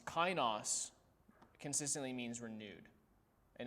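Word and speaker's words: καινός: i said it wrong it's not netos it's uh kainos kainos consistently means renewed and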